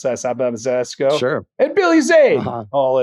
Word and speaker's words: Zemeckis: That's how you pronounce that. Zemeckis.